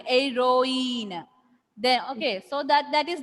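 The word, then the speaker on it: héroïne: Here H will be silent. Ir. Here also H will be silent. Heroine.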